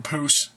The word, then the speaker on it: repoussé: And it's also not repoussé. I might be mispronouncing that. Some people call it repousse.